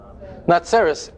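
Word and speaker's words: נצרת: Natseras.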